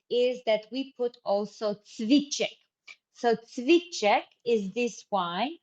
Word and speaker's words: cviček: how does it look, it's written CVICE, and above this C, you see we have an accent, right? So that's why this C with an accent on the top, bravo Dunja, hvala lepa, we pronounce it at CH, okay? CH, cviček.